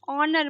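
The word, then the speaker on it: honour: दशहरा हम सेलिब्रेट करते हैं, दशहरा हम मनाते हैं ऑनर मतलब सम्मान में। ठीक है, ऑनर का मतलब क्या होता है? सम्मान। इसमें एच साइलेंट है, आप ध्यान रखेंगे।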